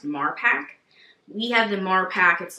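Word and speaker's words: Marpac: because it's made by I want to say it's pronounced mark pack we have the more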